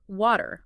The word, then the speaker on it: water: Listening closely to native speakers and trying to imitate that soft D or quick tap for the T in these positions can make a huge difference in how natural you sound.